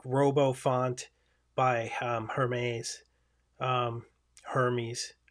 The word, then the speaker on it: Hermes: And I do have like RoboFont by Hermes, Hermes, I believe it's pronounced in the typewriter world.